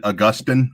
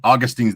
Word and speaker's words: Augustine: And technically, us Catholics, we pronounce it Augustine. Augustine's the more feminine pronunciation, but okay, yeah, Augustine, yeah.